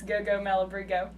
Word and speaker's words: Malabrigo: Yay, you said it right. I know. That's because I came up with that little mnemonic device, Go-Go Malabrigo, in my head.